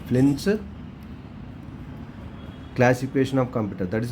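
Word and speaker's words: Flynn: named flins fly flying it pronounce like f l y n n s flins classification of computer that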